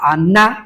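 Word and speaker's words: עִנָּה: En esencia, la palabra violado que tenemos ahí es la palabra aná con con acento en la última a.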